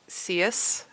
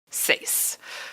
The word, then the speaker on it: seis: ah well I got all caught up on seus that is that okay is that how you